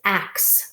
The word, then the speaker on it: ac: This one is ax, like an accident.